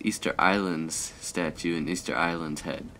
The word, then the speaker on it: Ylands: I guess it's Easter Island's statue and Easter Island's head. I have learned that the correct way to say Wylands is Islands. So, I guess it's just a cutesy way of saying Islands.